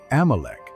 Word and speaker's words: Amalek: In Hebrew, it is pronounced as Amalecch.